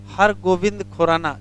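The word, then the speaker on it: Har Gobind Khorana: हर गोविंद खुराना। जरा स्पेलिंग सही कर लेना, बी है, वी नहीं है, हर गोविंद खुराना है, हर गोविंद खुराना।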